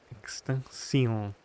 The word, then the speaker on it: extension: Uh you mean does it make a sh sound? Yes. No, it's an S sound, right? Extension, right?